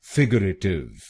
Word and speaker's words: figurative: और इस शब्द में आपको पहले शब्दांश पर यानी FIG पर जोर डालना है। फिगरेटिव, फिगरेटिव। गलत प्रोनाउंसिएशन में हम RA अक्षरों पे जोर डालते हैं। फिगरेटिव। तो इस शब्द को फिगरेटिव नहीं बोलिए, इसको बोलिए फिगरेटिव, फिगरेटिव।